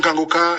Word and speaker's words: Kanguka: Mais pour l'émission Kangoka sur YouTube, vous les trouverez sur la chaîne Kangoka français. Kangoka ça s'écrit K A N G U K A.